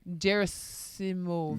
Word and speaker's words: Gerasimov: Alexi Gerasimov. Gerasimov. Gerasimov. Gerasimov. Yeah, it's not Jera. It's Gera.